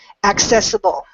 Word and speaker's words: accessible: to help you remember accessible again there you go that another perfect word to help you remember accessible so both of those seas are actually pronounced that help okay any